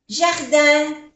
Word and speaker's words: jardin: Y la pronunciación es diferente, porque la J se pronuncia J, jardin. La I y la N, que es una vocal nasal, jardin.